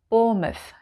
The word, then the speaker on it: Bournemouth: Bournemouth.